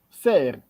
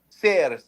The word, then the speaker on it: Serre: So how should I pronounce your name? Serre? And your last name? Serre. Serre. See? Serre.